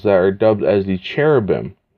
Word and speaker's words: cherubim: are dubbed as the cherubim or carobim if you're going ahead and more so using uh the Judeaic pronunciation or uh what have you.